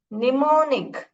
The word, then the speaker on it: mnemonic: लगेगा कि क्या है ये एम में स्टार्ट होता है मगर एम जो है साइलेंट है इसको निमोनिक्स बोलते है तो ऐसे ही कुछ